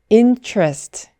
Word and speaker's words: interest: 네이티브는이 단어를 interest 이렇게 3음절로 잘 발음하지 않고 이음절로 줄여서 intrast intrest intrast 이렇게 발음한다는 점 기억해두세요 네 오늘 영상은 여기까지입니다